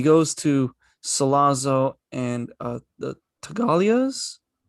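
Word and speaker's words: Tattaglia: I also liked how the original muscle, the one that works for Vito, Luca, he goes to Salazzo and the Tagalias. The G is silent.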